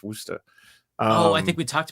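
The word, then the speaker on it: Worcester: sir wer yeah well it looks like it's pronounced Worchester Worchester but it's it's wer oh I think we talked about this before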